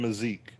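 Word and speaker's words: Mazique: say his name correctly brian miss musiki is that how he says it uh maziki or mazzique oh brian mazeek yeah there you go always posting you know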